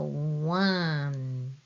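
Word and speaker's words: を: It's the same pronunciation as this o, but this one is only used as a particle in a sentence. You won't find any words starting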